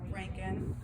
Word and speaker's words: Röntgen: Röntgen. Röntgen? Röntgen.